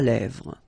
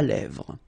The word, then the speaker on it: lèvres: Un crayon à lèvres. Un rouge à lèvres. Same thing here, final S not pronounced, and then this E accent grave here, it gives you the E, really open sound.